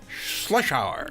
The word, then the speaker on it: Schlotzhour: Schlotzhour. Yes, I pronounced it right.